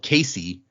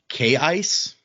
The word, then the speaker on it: Kaice: daughter, who we called Casey, it's written Kaice. Apparently the pronunciation is actually K-ice, which is weird, and I refuse to say that.